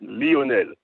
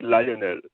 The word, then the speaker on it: Leonel: spell it l but in french we say we say it leonel not lionel lionel have a great